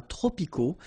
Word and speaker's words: tropicaux: So you can see that even if we've got the plural form here, S, we don't pronounce the S, and then we don't pronounce the T either. Les climats tropicaux. Final X not pronounced.